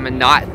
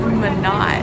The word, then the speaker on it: Minot: Nate just said Minot, and I just felt like that sounded so wrong because it's spelled just like Pinot. So I've been looking at it as Pinot.